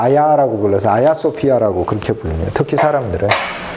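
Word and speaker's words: Ayasofya: 줘 이거를 이제 터키 말로는 타기 알을 지 발음하지 않고 아 아야 라고 걸러서 아야 소피아 라고 그칠 뿐입니다 특히 사람들의 그래서 처럼 교회의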